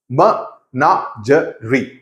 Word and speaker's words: menagerie: लेकिन शुरुआत करने से पहले, ये एक्चुअल मनांजरी है क्या, म इसका प्रोनंसिएशन कैसा होता है, मनांजरी, okay, that's how इट इज pronounced.